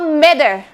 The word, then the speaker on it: matter: แบบ อเมริกา นะ คะ ตัว T ตัว นี้ จะ มี การ เปลี่ยน เป็น เสียง ตัว ดี นะ คะ matternether แต่